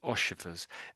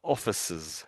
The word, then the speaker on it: officers: So you're saying oifers. Um it's more o officers. I said it wrong myself then.